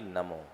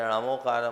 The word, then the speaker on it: णमो: उच्चारण किया जाता है लेकिन वर्तमान में जितने भी हमारे णमोकार महामंत्र के उपलब्ध पाठ है उसमें अनमो ही आता है इसलिए सौर सेनी पाठक प्राकृत के अनुरूप णमो का ही उच्चारण करना चाहिए यह मूर्धा से उत्पन्न